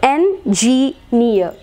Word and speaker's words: engineer: And here, engineer. Words that end in EE and EER. So engineer, pioneer, and all that. The stress is marked on the syllable having the suffix. So near.